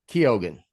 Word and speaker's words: Keoghan: Keoghan.